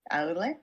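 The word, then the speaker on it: Aulë: Is it Ole? Aule. Aule? Aule. Yeah, Aule.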